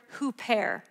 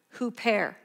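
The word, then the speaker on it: ὑπέρ: for in the greek is the greek word who pair you want i don't know if i know how to spell it i think it's h-o-o-p and it's pronounced like dash er with a little accent who pair and it literally means on behalf of or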